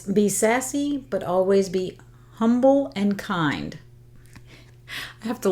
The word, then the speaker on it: Humble: a a town called humble but it's spelled humble right it's got the h but um but they don't pronounce the h and I kind of